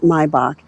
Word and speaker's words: Maybach: The Maybach, and it is pronounced Maybach, is notable for all the details on this car.